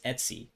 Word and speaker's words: etc: very important file in the slash etc which we usually pronounce as etsy directory called password p-a-s-s-w-d